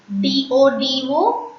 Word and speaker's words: dodo: D-O-D-O, dodo. Dodo. Please don't pronounce D as D in French, it's de.